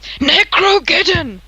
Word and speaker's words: Necrogen: them well right ah nick you said it wrong necro it's necrogen very powerful scroll destroys